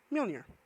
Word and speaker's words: Mjolnir: And then it looks like Manar, but it's actually pronounced Mjolnir.